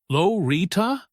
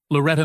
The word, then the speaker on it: Loretta: Is it Lorita? Loretta? He drew out each wrong pronunciation, making sure everyone could hear. Loretta May Johnson, she corrected softly but firmly. Like it's written there.